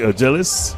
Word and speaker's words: Urgelis: Urgelis. That's the proper pronunciation. Aliani Urgelis. I heard you and Denmo going over the names early on. Urgelis.